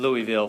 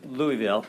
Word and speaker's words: Louisville: I lived in in Louisville for five months they don't say Louisville they say Louisville that's how they say it there in Louisville Louisville so